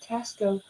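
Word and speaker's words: Taxco: Tanya, I know it's Tasco. I know that. Sherry, I know that. Joanna, it's Tasco. But it's spelled with an X. So this Southern girl's going to say Tasco.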